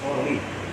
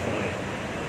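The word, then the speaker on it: صالح: Bapak seringkali mengatakan kata solih, tapi bukan soleh. Itu mana yang betul Pak? Oh ya, solih. Lalu Ya, kalau soleh ini bahasa Arabnya orang pamulang kuat.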